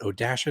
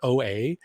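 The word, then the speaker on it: O-Dasha: And we got Odasha next week, which fun fact, I called her OA for the longest time because I didn't realize you pronounce the the dash in her name.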